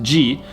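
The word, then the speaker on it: じ: 10 10 marks so she with ten time marks is pronounced ji and su with ten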